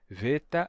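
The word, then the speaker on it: βήτα: oclusivas sonoras que são Beta Gama e delta ou em grego veta rama Delta certo elas Originalmente lá no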